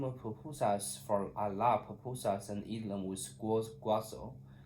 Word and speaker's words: pupusas: Clouds are messengers of God, and I dream of papapasos. I don't pupa. I don't know how to pronounce it. Just pupusas. This kind of food or something. You're doing great. The word is pronounced pupusas.